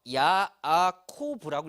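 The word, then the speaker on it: יעקב: 여기서도요, 야곱이라는 단어를 히브리어로 읽을 때는요, 야아코브라고 읽습니다.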